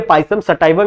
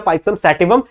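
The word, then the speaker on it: Pisum sativum: ठीक है, पाइसम सटाइवम या पाइसम सैटिवम, जैसा भी आप बोल सकते हो, बस आपको प्रोनाउंसिएशन ज्यादा मैटर नहीं करती, ज्यादा आपके लिए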